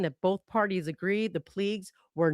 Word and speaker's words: Puig: Puigs. The Puigs. Say it again. Puigs. Puigs. It's p u i g s but it's like p w e e g s phonetically.